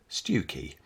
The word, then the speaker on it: Stiffkey: Yes, it's spelt Stiffkey, but locally it's the rather lovely seaside village of Stewkey.